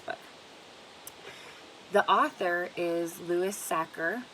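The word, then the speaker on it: Sachar: the author is Luis sacker it looks like stature but it's not and so Sakura if you can remember anything it reminds mr. cracker or it rhymes with cracker so when you're looking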